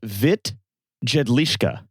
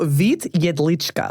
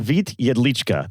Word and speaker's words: Vít Jedlička: Um is a man whose name I might not pronounce very well called Vit Jedlska. So Vit Yedlichka. Vit Yedlichka. There we go.